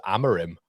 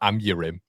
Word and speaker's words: Amorim: I thought it was Amorim, not Amurim. I think he's giving it a Portuguese twist there, isn't he? He's gone for the Amurim.